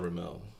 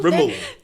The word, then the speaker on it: Rimmel: It's not Ramel. How'd you pronounce it? Ramel. Well, Rimmel.